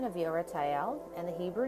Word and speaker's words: Ieratel: card is over here and it has the pronunciation of yo right Al and the Hebrew name and you're at Al